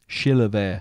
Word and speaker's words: Chilavert: How'd you say his name? Chilavert. What did I say? Chevrolet.